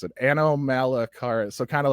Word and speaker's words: Anomalocaris: I cannot pronounce it. Anomalocaris, so kind of like Anorith, but Anomalocaris.